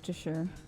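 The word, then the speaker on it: Worcestershire: hold on no I need pronunciation hold on pronunciation worst sauce wor sauce worsh sure that's how you do it you have a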